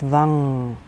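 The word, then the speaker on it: vam: and your neck so it's usually pronounced Vang v-a-n-g so your whole head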